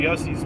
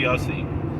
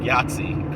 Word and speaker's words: Yossi: play for me Country Yossi. Something she pronounced like Yahtzee. Kind of play for me Country Yahtzee, and we listen, and